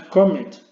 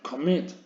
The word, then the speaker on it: commit: No es comet, sino commit. El golpe de voz lo lleva a la última sílaba.